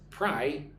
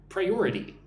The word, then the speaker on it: priority: Look at the word priority. Pri-your-i-ty. 4 syllables, priority.